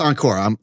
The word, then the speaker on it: Ankur: It's pronounced Encore. We're told. It is pronounced Encore. Like do it Encore?